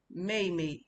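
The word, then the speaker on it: 妹妹: Mei mei is the fourth tone.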